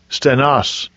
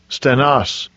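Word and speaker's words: στενός: that word straight here i'll get the pronunciation strong's g 4728 stanos stanos so it says narrow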